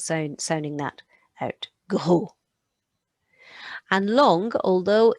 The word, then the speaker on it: long: And long, although it's the spelling is the same as English, the on makes that piggy nose sound. On, like we had in monstre. So that is long, long.